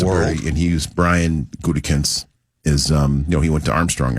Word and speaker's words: Gutekunst: I didn't move here till 94, so forgive me for not knowing how to pronounce. How did you say your coach's name, John? Gutekunst.